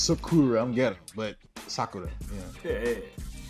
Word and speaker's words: Sakura: Well, I pronounce Sakura, I'm ghetto, but Sakura, yeah.